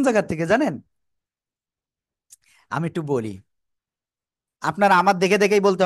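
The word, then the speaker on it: ب: দুই ঠোঁট, এই যে দুই ঠোঁট না, এই দুই ঠোঁটের ভিজা অংশ থেকে। কি বলেছি? বলেন তো কি বলেছি, দেখি কেমন পারেন। দুই ঠোঁটের ভিজা অংশতে। ওকে, এবার আবারও বলি, শোনেন। দুই ঠোঁটের ভিজা অংশ থেকে এক আলিফটা নিয়ে উচ্চারণ করব আমরা।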